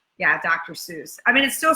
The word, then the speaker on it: Seuss: sois yeah dr. Seuss I mean it still spelled the same right way it's just dr. soy sin it rhymes with voice so anyway enough of